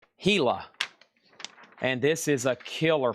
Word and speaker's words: Gila: This is pronounced I would look at it and say Gilla, but it's pronounced Gila. And this is a killer poster. Look at the colors from 1959. The giant Hila monster.